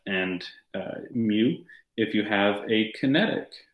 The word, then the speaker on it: mu: it over here okay this is called a mu it's spelled m u mu mu is the coefficient